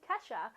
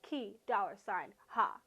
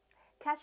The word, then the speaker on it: Kesha: and that is unshockingly Kesha, or as Glee once pronounced it, Key $, ha.